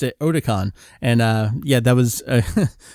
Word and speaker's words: Otakon: word online as I was getting there I pronounce it as Otakon because it's otaku and it's a convention little did I know that everyone pronounced it Otacon and yeah that was a bullied out of